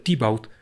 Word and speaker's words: Thibaut: Para este momento, Teobaldo, quien en el lenguaje, en el dialecto local se pronuncia Thibaut, ha comenzado a comer mucho.